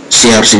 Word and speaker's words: chercher: So it's the R here must come out of the word. So what do you do? It's pronounce this way. Chercher.